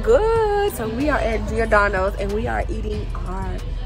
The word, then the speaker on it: Giordano's: Giordano's. And y'all know Brittany because last time I was here in Chicago, y'all seen Brittany. Look how fast. Hey, sis is looking good. So we are at Giordano's and we are eating our pizza, you guys.